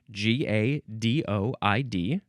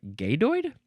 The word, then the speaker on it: gadoid: G A D O I D. Uh, gaydoid. That's the first pronunciation here.